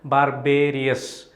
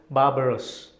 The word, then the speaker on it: barbarous: also means extremely brutal there is a misconception that you pronounce barbarous as in the same lines as barbarian you know barb arias it's not barbarians it is barbarous maybe you want to